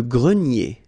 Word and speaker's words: grenier: pronounced, la fenêtre, le grenier. Remember this R here at the end will give you the sound E, nier, grenier. Okay?